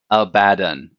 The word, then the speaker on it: Abaddon: about aaden the despoiler he is indeed a badden a badden a bad guy I That official pronunciation came out not too long ago and it's kind of